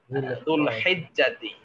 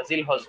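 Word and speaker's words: ذو الحجة: আরবি শব্দটা হলো দুলকদাতি দুলহিজ্জাতি হ্যাঁ আমরা জিলহজ বলি আরবিতে শুদ্ধ হচ্ছে দুলহিজ্জাতি বা জুলহিজ্জা আমরা শেষে সাকিন করে দিলে দুলহিজ্জা হবে তো এভাবেই আমরা এগুলো আশা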